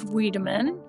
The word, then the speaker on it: Wiideman: Today we're talking with Weideman, CEO of Weideman Consulting, a search marketing consultancy.